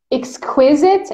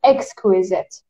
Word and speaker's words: exquisite: Yeah, and it has two pronunciations, exquisite and exquisite. Exquisite, exquisite. Exactly. Both are correct.